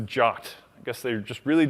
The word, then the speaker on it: JWT: I know that like the first sentence of the spec says you pronounce this jot I guess they just really didn't want to have like the GIF versus GIF controversy so it's jot not jwat so I